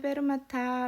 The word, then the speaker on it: 페르마타: 계시면 좋으실 것 같아요 읽기는 페르마타 라고 읽 읽는데 그게 음표 위에 있으면